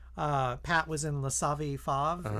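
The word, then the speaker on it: Les Savy Fav: uh Pat was in laav fav is how you say it yeah and Nancy was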